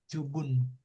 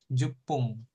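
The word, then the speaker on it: 十分: Jubun. Jubun. Hmm, gitu ya. Artinya bisa kalau 10 menit itu jupung gitu ya. Ingat jupung. Kalau ini jubun. Hmm, beda ya. Beda apa pengucapannya beda gitu ya.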